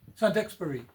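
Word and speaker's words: Saint-Exupéry: stuff pre is it Santo how do you pronounce it sanexperi sanexp Santobury yeah um so that was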